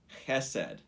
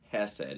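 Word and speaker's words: חסד: The word that is love there is the Hebrew word chesed. And if you are learning Hebrew, it's not Hesed. It's Chesed. It's like CH, but that's the way the Hebrew is pronounced.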